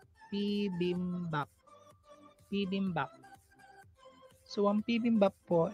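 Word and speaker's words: 비빔밥: So, ang ating first syllable is P. Second syllable is BIM. Third syllable is BAP. P-BIM-BAP.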